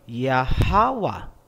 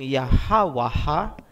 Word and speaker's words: Yahawa: Bakit hindi nilagyan ng isa pang a sa dulo? Hindi ba dapat naging yahawaha? Hindi po. Kasi ang a binibigkas kung may susunod pang syllable. Kung wala ng susunod na syllable pagkatapos ng last letter, hindi na po bibigkasin ang tunog na a.